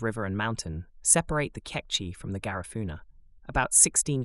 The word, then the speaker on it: Kekchi: The Kekchi, pronounced Ketchi, are one of the still surviving indigenous tribes of Mayans.